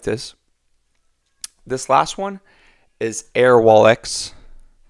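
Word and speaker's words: Airwallex: this last one is air wallx I think I'm saying that right air wallx is how they pronounce it so this is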